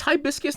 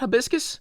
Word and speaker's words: hibiscus: It's hibiscus, not habiscus.